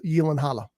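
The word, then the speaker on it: Gyllenhaal: an interesting cast it's Jake uh Jake uh yanala or gyllen hall or however you want to say it he told Conan O'Brien it's Yen Halla so uh that's how it's apparently properly pronounced uh but it's got Jake in it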